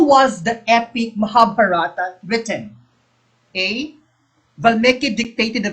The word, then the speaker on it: Mahabharata: correct um my teacher my professor in up pronounce this mahabharata no he would get mad if we pronounced it mahabharata he said no it's mahabharata okay it's mahabharata okay